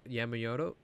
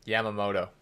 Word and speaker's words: Yamamoto: on with that um kaler yemen yamayodo uh man i'm butchering that how do you say his name yamamoto there you go i need you to